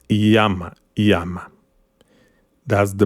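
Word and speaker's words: llama: accent Jose okay Jose the Double L is not Lama is Yama Yama that's the pronunciation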